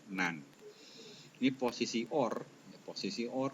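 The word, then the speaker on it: NAND: dia dikomplemenkanotkan berubah menjadi not n atau biasanya dibacanya nan ini posisi or posisi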